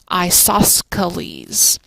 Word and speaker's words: isosceles: can spell that correctly when I write out isoceles I say isosceles because you don't pronounce it but it's there that little C right there so isosceles triangle